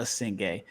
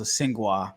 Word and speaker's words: Essengue: All right, so I said it was Noa Essengue. I listened to the Blazers game. They said it was Essengue. Then I got a message saying they believe that I was saying it right the first time.